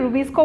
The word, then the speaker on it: Rubisco: Pronounce কেনেকে কৰি আমি Rubisco বুলিয়ে কম, কিন্তু the name itself talks about the enzyme.